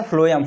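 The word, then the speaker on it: phloem: अब फ्लोएम या फॉर ये को कहते हैं फ्लोएम, या फॉर फूड होता है, या पीएच फ्लोएम। इसे आप सिंपल यानी प्रोनाउंसिएशन करेंगे तो ये फ्लोएम ही होगा।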